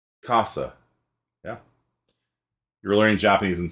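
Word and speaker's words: 傘: So put your hand in front of your mouth and say casa, like house, except in Japanese it means umbrella. So casa. Do you feel the air coming out of your mouth? Casa.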